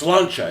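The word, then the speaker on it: Sláinte: Is it It's Slancha, isn't it? That's how you say it. It's not like, "Oh, slank to you too, Bubba."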